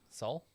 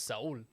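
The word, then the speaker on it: Saúl: a guy who's really soul right saul his name is saul saul yeah that's a name it's okay i mean because in spanish it's soul i don't know man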